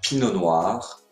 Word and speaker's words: pinot noir: merlot le merlot le muscat le muscat le pinot noir le pinot noir le pinot gris le pinot